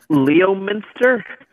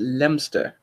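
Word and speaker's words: Leominster: in the stream chat leo Minster now you'd think that wouldn't you how do you pronounce me you're supposed to pronounce it lem stir okay hold on most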